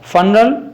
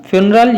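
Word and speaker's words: funeral: फनरल, फ्यूनरल या फनरल, इसको दोनों प्रोनाउंसिएशन इसके करेक्ट हैं।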